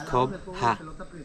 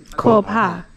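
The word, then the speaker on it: Coba: Why, when I talking about what means Cuba, C-O-B-A, in Mayan we pronounce Cobha. Cobha.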